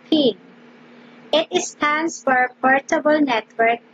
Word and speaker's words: PNG: another is that png this is pronounced as pin it stands for portable